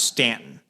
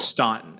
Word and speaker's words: Staunton: It's like Staunton is pronounced Stanton, even though it's Staunton, and I'm like, you guys just screwed it up.